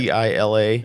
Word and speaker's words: Gila: So it's spelled Gila River. But Gila. yeah, Apparently it's Gila.